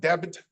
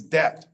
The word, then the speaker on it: debt: That's not debit, it's debt. The B is silent. It says nothing.